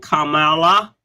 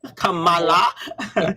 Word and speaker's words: Kamala: last night um and Kamala Kamala haris Kamala so that we know who how we pronounce her name and then soon to